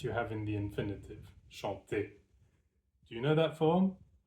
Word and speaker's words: chante: in almost every form, just drop the E at the end, and chanter becomes chante. And now you have the pronunciation chante.